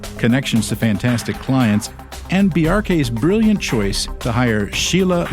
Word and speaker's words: Bjarke: I normally explain it like there's a reference to Bork because it's a similar BJ. Yeah. But the symbol hack, just like you would say FBI or CIA, you pronounce every letter in the acronym. Say the acronym BRK quickly.